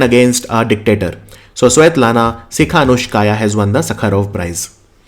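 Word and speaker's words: Tsikhanouskaya: Her name is Svetlana Sikhanouskaya. Okay, T is silent. Svetlana Sikhanouskaya.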